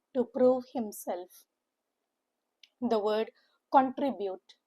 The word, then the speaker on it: contribute: The word contribute like the word consistent a three-cllable word with the stress on the middle syllable trim. Contribute. Contribute. C N is ku N. T R I is the same and it is UT which is YT.